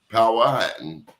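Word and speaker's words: Powhatan: You're either Saponyi, P Power Hatton, and he corrected me. Power Hatton or Cherokee in Virginia.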